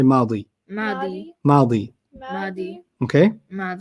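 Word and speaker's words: ماضي: Past is madi. Madi. Like Maddie.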